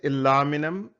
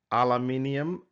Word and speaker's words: aluminium: And I said aluminum. You can hear it aluminium. Both of them are right. Aluminum is American pronunciation. Aluminium is a British one.